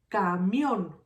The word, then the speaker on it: camión: Camión. Camión. This word has 2 syllables. Camión. Where do you hear the stronger syllable? Camión. So remember, the first one is the last one.